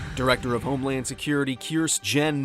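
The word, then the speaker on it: Kirstjen: director of Homeland Security Kearse Jen Nielsen is out and that's how our name should be pronounced because you can't treat a J like a migrant child and just ignore it for resignation letter stated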